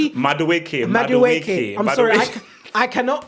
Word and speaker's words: Madueke: Did you call him Maduki? Madueke.